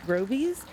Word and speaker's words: Grovies: They've got some really good offerings at Grovies. I think that's how you pronounce it. I used to pronounce it Groves, and then I heard their radio commercial and I was like, what's this nursery called?